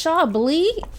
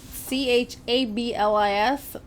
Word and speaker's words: Chablis: It's Chablis is the name of the wine. It's spelled Chablis. We would say Chablis here, but it's Chablis by Vin de Bourgogne.